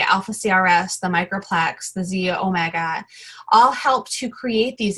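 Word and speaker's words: xEO Mega: It's XE omega, pronounced Z omega.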